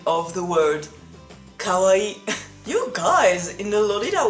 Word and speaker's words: kawaii: uh scary in japanese so it's better to pronounce it it's three syllables i know i know